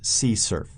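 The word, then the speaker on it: CSRF: cross-site request forgery and that's often pronounced see Cerf and sometimes the acronym is written with X srf so o ASPs description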